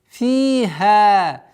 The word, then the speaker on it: فيها: Фиха. Фи. Ударение в размере двух огласовок. Касру удлиняем. Фиха. После удлиняем фатху 2 счета.